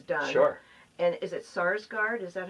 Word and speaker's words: Sarsgaard: And is it Sarsgaard? Is that how you pronounce Peter Sarsgaard, yeah.